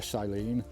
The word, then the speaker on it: Salen: It's spelt Salen, but it's actually Salen. Salen and Salen.